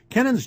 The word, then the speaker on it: Kennan: Kennan, or actually I believe most people pronounce this Kennan, K-E-N-N-N, K-E-N-N-A-N.